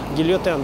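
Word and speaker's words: Guillotin: Там даже есть такая сцена, когда этот самый Гильотен, как он произносится по-французски, да, Гильотен, доктор Гильотен, приходит к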